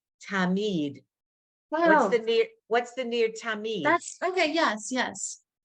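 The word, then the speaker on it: תמיד: It's a D. No. Tamit. No, you had it right the first time, but you had Oh. the wrong last letter. Tamid. Wow. What's the near Tamid?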